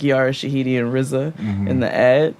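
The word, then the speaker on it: Riza: And it was like Rizza. R I Z A. This is how you pronounce it.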